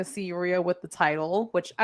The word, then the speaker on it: Rhea: I said her name wrong. Rhea.